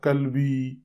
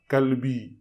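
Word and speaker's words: قلبي: انت کلبی، تو مانا کیا ہو؟ تم میرا کتا ہو۔ تو فرق صرف جو ہے قاف اور کاف کا ہے۔ جہاں پر انت قلبی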